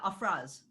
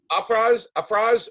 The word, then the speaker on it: Afraaz: The pronunciation of your name, Afraaz? Yeah, Afraaz. Afraaz.